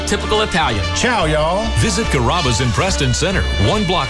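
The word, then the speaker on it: Carrabba: Growing up, people always had a hard time pronouncing my name. People chop it up pretty good. You know, Kaba, Kamaba, Kamba. It's a really easy name to pronounce. It's Karaba.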